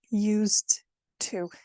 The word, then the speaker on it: used to: So in English, you have used to. I used to. Now, the D and the T are letters that are pronounced in a very similar way in your mouth. So actually, it's only natural that D is actually going to disappear. So we actually say, I used to.